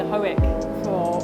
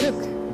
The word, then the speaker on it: Hoek: So today's my second day here at Hoek. Actually, that's one thing I learned. I've been saying Hoek for months, and I just found out it's actually pronounced Hoek.